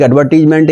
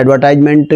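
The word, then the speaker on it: advertisement: को आएगा या आपका एक एडवर्टीजमेंट, या आप कह सकते हैं एडवर्टाइजमेंट भी कह सकते हैं इसको, या एडवर्टीजमेंट, दोनों ही प्रोनाउंसिएशन ठीक हैं, या इस तरह का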